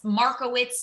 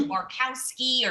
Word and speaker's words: Markowitz: It's Markowitz is exactly how it's spelled, but they did like Markowski or some. I'm like, where did that come from?